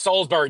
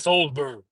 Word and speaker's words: Salisbury: It's pronounced Salisbury, not Salisbury.